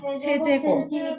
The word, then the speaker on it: 세제곱: 여기 3이라고 했죠 그쵸 요거를 뭐라고 했느냐면 세제곱이라고 읽어요 세제곱 어 1 자 우리